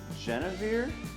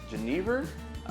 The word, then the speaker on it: genever: things that I've accumulated these two are Jenna beer genever one of the other pronunciation they're from Amsterdam when